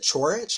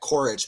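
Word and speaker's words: Ćorić: uh yeah is it is it chorich I think that's right that's how you say it you're supposed to say it I already said courage but I'm trying to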